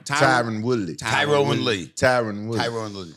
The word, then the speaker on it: Tyron: willly tyr Le tyon Tyrone Le it's not Tyrone Tyrone it's Tyron let me call on